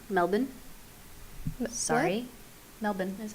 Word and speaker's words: Melbourne: she was born in Sydney but lived in Melbourne Melbourne sorry Melbourne that's how you're supposed to pronounce it really the Aussies pronounce it doesn't